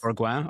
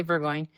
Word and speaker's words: Burgoin: So, Burggoyne, am I pronouncing that right? Yes. Burgu or Burggoyne.